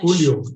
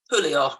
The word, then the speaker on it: julio: Julio, July, Yeah. Julio, I got Julio. it. Correct. Okay. So here we go. Can you see my slide now? I've just changed it to Julio.